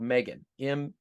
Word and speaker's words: M3GAN: It's a new sci-fi horror movie called Megan. M3GAN is what it's spelled.